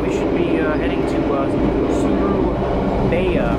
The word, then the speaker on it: Surabaya: But shouldn't be too much longer now, and we should be heading to Surabaya, apparently is how you say it, something like that.